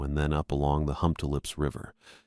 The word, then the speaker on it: Humptulips: along the Humptulips River, which was one of those names I'd been pronouncing wrong in my head for years until I heard someone say it out loud at the district office. Hump tulips. Not how I'd been saying it.